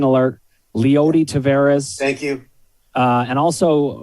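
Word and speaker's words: Leody Taveras: in the year he's only 30 roster meanwhile pronunciation alert lyoti tavares thank you uh and also uh you you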